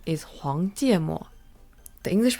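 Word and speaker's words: 黄芥末: The Chinese pronunciation is 黄芥末.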